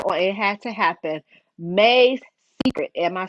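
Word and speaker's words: Mae's Secret: May's Secret.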